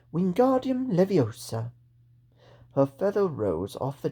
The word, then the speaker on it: Wingardium Leviosa: Wingardium Leviosa! He shouted, waving his long arms like a windmill. You're saying it wrong, Harry heard Hermione snap. It's Wingardium Leviosa. Make the gar nice and long.